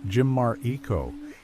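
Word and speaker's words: Chimariko: The name Chimarico, pronounced Jimmar Eco, is derived from the word Chimar, or Jimar for person.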